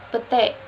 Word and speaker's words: petai: kata ramai diucapkan rame petai diucapkan pete perubahan ini terjadi pada bunyi